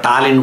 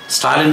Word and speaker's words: ஸ்டாலின்: இஸ் வருதுன்னு சொல்லிட்டு அதை டாலின் போடாமல் போனாங்க. ஏன்னா ஸ்டாலின்ங்கிறது இஸ் வந்து வட சொல்லுன்னு சொல்லாங்க. திமுக கட்சி நிர்வாகிகளிடம் ஸ்டாலின் தான் கரெக்டான உச்சரிப்பு, அதை கரெக்டாக போட்டாங்கன்னு சந்தோஷப்படணும்.